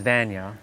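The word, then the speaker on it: Vanja: cuz I I really enjoy what that lady her name is Vana. I think that's how you say it. V A N J A Va J is probably silent. It's more like a Y.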